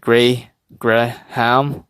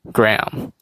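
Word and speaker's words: Graham: sample goat or gram i think i used to pronounce it like gray gray ham but then uh from what i've heard is basically gram so then gram so a would then be silent and then all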